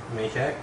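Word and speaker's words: Macek: Maycheck. How do you spell it?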